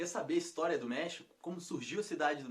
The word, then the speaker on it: México: o meu país e não era méxico como pronunciado aqui era para você a do meio xícara então era méxico só que pelo x os espanhóis começaram a pronunciar méxico e ficou méxico em espanhol até hoje é o prédio deles